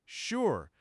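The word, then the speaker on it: 示: The first part is Shi pronounced sure, which represents the altar or the divine.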